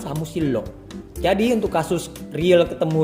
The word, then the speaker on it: 사무실로: Jika samusirero itu tidak mudah pelafalannya, tapi samusillo adalah mudah pelafalannya.